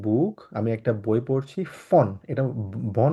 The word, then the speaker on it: von: ein Buch, আমি একটা বই পড়ছি ফন, এটা বন না, ও কারণ সরি সরি, ফন।